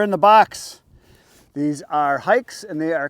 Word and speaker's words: HAIX: there there's the logo it's pronounced hikes it's h a iix